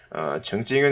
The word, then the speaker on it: 曾经: 자, 이것은 일찍이 또는 이전에라고 우리가 해석을 할 수가 있는데, 이 정이라는 것을 발음을 할 때 ch, 청 이런 발음보다는 이 ts 발음에 더 가깝다고 생각이 됩니다. 그래서 요 발음을 해주시면 더 좋을 것 같습니다.